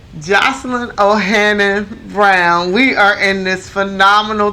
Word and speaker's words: Joselyn O'Hannon-Brown: We're back, and we are talking with Joselyn O'Hannon-Brown. Yes, I said it right this time, because in the beginning I said it wrong. Joselyn O'Hannon-Brown.